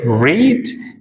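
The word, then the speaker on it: read: First form रीड है और second third form को हम रेड प्रोनाउंस करेंगे।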